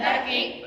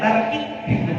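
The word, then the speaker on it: tarqiq: Hukum lafaz Allah dibagi dua: tafkhim dan tarkik. Bagus. Bukan tarki ya, tarkik. Pakai kick off gitu ya. Itu pakai Q ya menulis ya sebenarnya tadi. Bacanya bukan tarki tapi tarkik. Tarkik.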